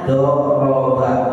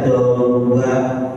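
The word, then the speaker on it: ضَرَبَ: Ini juga bacanya doroba enggak dibaca dorba atau doriba ya, tapi doroba ini bacanya fatahah enggak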